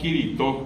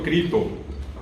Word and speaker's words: Kirito: ¿Por qué que en guaraní nosotros decimos Kirito a Cristo? Porque Cri, allí entró Kirito. Eliminamos la S porque no hay consonantes finales de sílaba y quedó Kirito. Pero nadie dijo Crito.